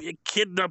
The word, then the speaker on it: echidna: Don't talk to me, you echidna bastard! Is that how you say it? Yeah. Is that how you say it? Did I pronounce that right? You're good.